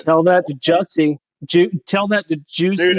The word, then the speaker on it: Jussie: Right, it's pronounced Jussie, but he calls himself Juicy.